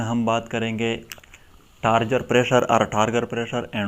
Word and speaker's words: turgor: यहाँ पर ये पॉइंट भी नोट करें, ये जो वर्ड है लतीन वर्ड टार्गर और ये टार्गर, इसकी प्रोनाउंसिएशन जो इसमें कोई डिफरेंस नहीं है, सिर्फ इसकी स्पेलिंग जो है ये डिफरेंट है।